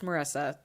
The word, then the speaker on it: Marisa: It's Marisa with 2 S's, but just spelled with 1.